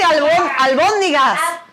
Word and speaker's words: albóndigas: Se dice albóndigas.